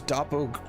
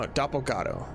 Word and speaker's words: Dopo Go: Uh, this is Dopprot. No, doppato. Keep getting the name wrong.